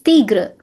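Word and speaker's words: tigre: The pronunciation is tigra.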